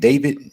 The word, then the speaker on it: D4VD: There's a singer named David. Does anybody know who this dude is? It's spelled D.